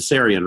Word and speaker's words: Tsarion: the work of Syrian and I hope I'm pronouncing your name right to Syrian right oh yeah yeah and then and then